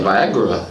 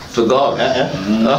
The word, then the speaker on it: Vergara: You say Viagra. Vergara.